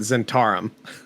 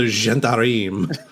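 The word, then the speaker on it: Zhentarim: I always pronounce it Zentarum. Oh, that's a very American pronunciation of you, sir. Wow. I'm pretty sure it's the Gentarim.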